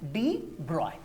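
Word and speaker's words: de Broglie: physicist क्या लिखा है लुई विक्टर डी ब्रोग्ली और ब्रैकेट में लिखा है प्रोनाउंसड एज डी ब्रॉय तो हम इसी की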